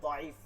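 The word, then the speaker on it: ضعيف: একটা হচ্ছে কলকলায় দাইফ, দুর্বল, দাইফ। আমরা সচরাচর শুনি না হাদিস, দাইফ হাদিস, ওই শুনি কি জয়ীফ হাদিস, দতকে জত পরে দেখে আমরা এখন মিলাইতে পারতেছি না। দাইফ মানে দুর্বল, দত মূলত দত, উচ্চারণটা দত, দাইফ মানে দুর্বল কলকলা।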